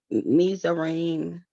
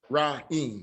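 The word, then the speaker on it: מצרים: But going back to what Zion brought out, but this would be, how do you pronounce this word here? Shaquan, when you pronounce Mizarim. Okay, so it's not going to be Mitzrayim, right?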